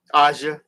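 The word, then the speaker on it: A'ja: Aja.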